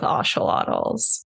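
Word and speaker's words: ocelot: general so I would love to work with oselot oh yes I have never actually seen like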